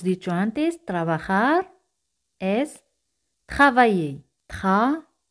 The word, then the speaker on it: travailler: Travailler. Aquí y el se pronuncian como Y española. Ye.